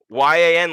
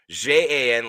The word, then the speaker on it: Yan: This one's actually YAN, like Peter Yan, like Piotr Yan, not JAN, like Jan Błachowicz.